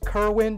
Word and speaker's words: Kerwin: but now we have ryan kerwin he absolutely exploded onto the scene and there's a reason his name is pronounced kerwin because he is a winner this kid okay two